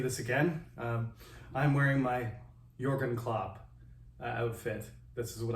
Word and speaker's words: Jürgen: So this is my Jürgen Klopp version of composition 3. His name starts with a J, by the way, if you want to look it up, even though it's pronounced Jürgen.